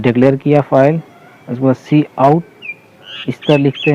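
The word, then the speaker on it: cout: सी आउट is pronounce, इसको हम लोग सी आउट प्रोनाउंस करते हैं।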